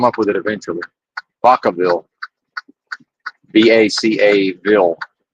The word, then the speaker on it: Vacaville: Vacaville. And it is pronounced that way locally.